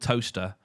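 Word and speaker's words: Towcester: And our weird rule that if something, like we have a place here called Toaster, but it's not spelled Toaster. Okay. It's spelled, Tocester, because that's the rule. If it's spelled Cester, then it's not pronounced Cester.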